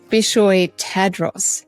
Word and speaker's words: Bishoy Tadros: it's kugi Heroes and my hero today is bishoy Tadros how are you going bishoy I'm doing well